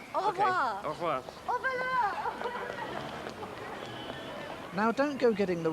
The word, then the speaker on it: au voleur: au voleur. Au voleur. Au voleur. Au voleur. Au voleur. Au Okay. revoir. Au revoir. Au voleur.